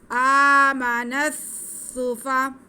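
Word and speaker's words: السفهاء: अलिफ लाम ये जो सेंटर में आ रहा है ये साइलेंट हो जाएगा, नून को सीन के साथ मिला देंगे। आमनस सूफा, आमनस सूफा, नस सूफा थोड़ा रुक के मिलाएंगे क्योंकि शद है।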